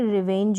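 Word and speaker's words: revenge: में है, तो प्रिविलेज, तो यहाँ पर ज एंड में आपको मिल रहा है GE और इसको हम प्रोनाउंस कर रहे हैं ज। तो इस तरीके से GE के कॉम्बिनेशन को भी हम ज प्रोनाउंस करेंगे।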